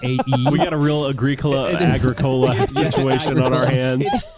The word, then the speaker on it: Agricola: How'd you pronounce it? Ethnos? Ethnos. You've Ethnos. It's not A-E. We got a real Agricola situation on our hands.